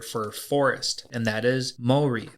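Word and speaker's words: 森: the Japanese word for forest and that is Mori Mori is spelled m o r i and Mory is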